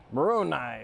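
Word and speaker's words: maronii: Moroni is how you say the species name.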